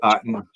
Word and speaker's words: Aten: It rhymes with Satan, doesn't it?